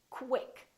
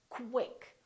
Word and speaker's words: quick: When we have words that are spelled with Q-U, they're pronounced as KW. So there's a little W sound in here. So I want you to say quick.